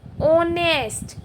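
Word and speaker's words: honest: इसको बोलते हैं ऑनेस्ट। क्या बोलते हैं इसको? ऑनेस्ट। एच यहाँ पे क्या है?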